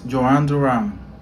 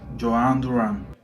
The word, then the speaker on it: Jhoan Duran: My name is Joan Duran. Joan Duran. Joan Duran. Or do I say Duran? Joan Duran.